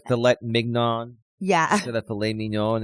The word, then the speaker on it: filet mignon: So my dad taught me how to say it right, filet mignon.